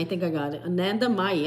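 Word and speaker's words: Anandamayi: think I got it Ananda mayi I had to use like Elementary sounding out the words here in syllables Anna May an Ananda May ma ma ma like mother oh it is says mother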